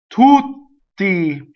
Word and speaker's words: tutti: Tutti, tutti. See, double T, right? So I go up, I long vowel, I stop phonation, I go up to the T, I don't say it, and then I say it.